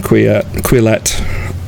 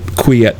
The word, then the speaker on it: Quillette: I was actually going to go back to the social justice thing because this article in Quillette, I want to pronounce it Quiet because it's French, but anyway, through the Looking Glass at Concordia University, and so many things like that.